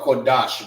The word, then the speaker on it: Qadash: Put that together. Dash. All right. This is and Dash. All right, which is pronounced together. It ain't dash, it's Dash. Dash. All right. Many people may look at that and be like, oh, that's Qadash. Quad dash, whatever however they use it, all right, but it's not pronounced the right way, all right. When we say the A's, we say ah, all right.